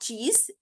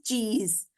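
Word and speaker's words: cheese: यहाँ पे हम लोग जो चीज बोलते हैं, दिस इज नॉट चीज, दिस इज चीज। डबल ई एस सी की आवाज जो है वो क्या निकल रही है, ज में, चीज।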